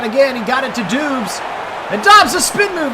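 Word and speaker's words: Doubs: Well, it looks like it should be pronounced Dubes. It's not D-O-B-B like every other person who's ever had the last name Dobbs, but I'll try to do it the right way, out of respect for him and his family.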